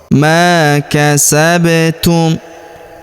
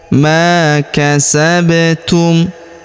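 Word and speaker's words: مَا كَسَبْتُمْ: Huruf ba berharakat sukun. Kita berikan pantulan atau qalqalah. Ma kasabtum. Ma kasabtum.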